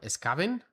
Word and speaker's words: Skaven: Miguel, Skaven se pronuncia como Skaven. Skaven. Skaven, ¿quieres decir? ¿En serio? Skaven. Scavenger. Pues tiene razón, pues posiblemente sí. Skaven como Scavenger.